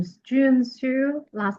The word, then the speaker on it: Xu: Hi everyone, my name is Jun Su. Last name is spelled XU and I was born on February 10, 1984.